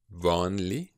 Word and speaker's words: vanlig: If you have words ending in L-E-G, you will have a silent G. Vanlig. Merkelig. You hear the G is not so spoken.